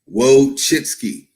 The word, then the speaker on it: Wojcicki: Okay, this is how you pronounce her name. Wojcicki.